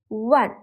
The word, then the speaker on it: one: the word one so even though one begins with a Vel letter it starts with the sound of w one therefore we use a